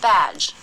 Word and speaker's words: badge: and compare it with batch the ending of badge is weak badge the ending of batch is